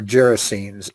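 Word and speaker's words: Gerasenes: just at Jesus yeah if that word can be pronounced two ways it could bring down currency or gyracines either way is correct I've heard it pronounced both ways so don't worry about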